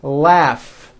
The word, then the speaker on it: laugh: a strong R Freedom laugh notice the GH combination in that word laugh telephone notice the pH